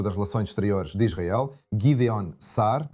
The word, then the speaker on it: Gideon Saar: E eu estou olhando para uma declaração do ministro das relações exteriores de Israel, Gideon Saar, acho que essa é a pronúncia correta, em que ele diz, basicamente, que a declaração do secretário de relações exteriores britânico é totalmente unilateral.